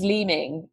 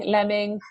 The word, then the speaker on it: Leeming: Well, my maiden name was Leeming, and I got everything from Leeming, Lemming, learning, leaning.